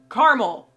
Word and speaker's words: caramel: in the same vein I know it is spelled caramel but I have always heard it said and have set it the way of Carmel and anytime I say